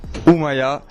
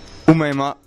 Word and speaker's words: Oumaima: Aujourd'hui, je suis avec Oumaya. Déjà, je prononce mal, on dit comment? Oumaima, excusez-moi.